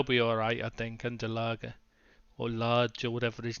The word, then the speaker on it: Lage: Yeah, Jimenez will get, once he gets going again, they'll be alright, I think, under Lager. Or Large, or whatever his name is pronounced. No. Large. Large, is it?